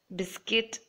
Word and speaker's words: biscuit: gasp and colleague everywhere make sure you put the U and when you say it out loud make sure you don't pronounce it it's guitar biscuit and